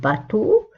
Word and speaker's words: bateau: un bateau اسم ينتهي ب EAU تنطق O un bateau.